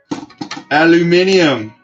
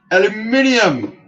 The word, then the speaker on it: aluminium: car see the bulkhead aluminium aluminium kids as the brits say but yeah ultimately this